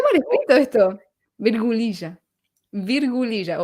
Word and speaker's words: virgulilla: Virgulilla o virgulilla.